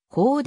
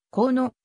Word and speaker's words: 高: 略であるため発音するときはこうではなくこうのとよぐ南北朝時代